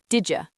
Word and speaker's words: did you: Listen to how the words did and you push together. Didja, didja. Right, it almost sounds like a J sound.